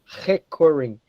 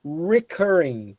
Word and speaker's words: recurring: When we're using the R, the letter R in English, we almost never use the sound recurring. We say here recurring, okay?